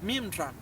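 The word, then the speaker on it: מימרא: la palabra de hashem el término palabra en el arameo se pronuncia mimra y en el hebreo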